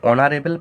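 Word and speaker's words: honourable: আবার দেখো, অ্যান অনারেবল person, তাহলে অনারেবল পার্সনের এইচের উচ্চারণ হচ্ছে না, ও থেকে উচ্চারণ হচ্ছে, ভাওয়েল থেকে, এই জন্যও এর পূর্বে কি বসাবো?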